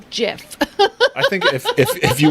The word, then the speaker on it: GIF: so and then the the creator said it's jif so we're totally following